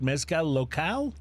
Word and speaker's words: Mezcal Local: Is it Mezcal Local? Mm-hmm. Am correct. I pronouncing it correctly?